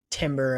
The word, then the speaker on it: Timber: Ben White over there he's saying it right Timber at the right who's gonna play right back